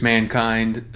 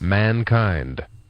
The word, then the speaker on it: mankind: i was talking about here you can also stress the first syllable which i guess it wouldn't sound as silly as i made it this is what they have mankind or mankind so there you go